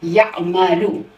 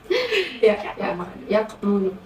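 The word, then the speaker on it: يعمل: Яқмалу. Хуа яқмалу. Емес. Қы емес, ғы емес.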